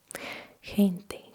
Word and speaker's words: gente: If it's a o u then it is like guh gato goso gusto gusto If it is e or i then you pronounce it as hota like gente gente people gigante gigante